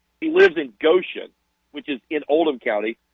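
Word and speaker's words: Goshen: he was talking about he never says Goan because he's afraid somebody won't know how to say it they'll call it goshan so Goan which is just outside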